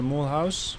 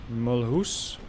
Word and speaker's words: Mulhouse: fire going on on the moon house or mulhouse as the french might pronounce it yes there goes the